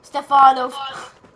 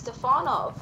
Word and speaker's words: Stefanov: it's crazy right now Stefano that's what you call my last name that's how you say my last name it's stefanov no it's definitely I